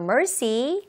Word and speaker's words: mercy: 자, 이때 mercy라는 단어를 좀 제대로 발음하려면 M의 소리를 그냥 너무 머시, 머시 하고서 우리말의 미음처럼 하지 마시고요. Mercy. mercy 하면서 앞부분에서 왜 맛있을 때 하는 그런 소리를 내면서 시작해 보도록 하세요.